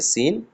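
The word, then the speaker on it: سين: দুটি আছে একটা আছে সিন একটা আছেশিন এটা সিন একটু হালকা সিটি কেটে সিন আর এটা মোটা বড়শিন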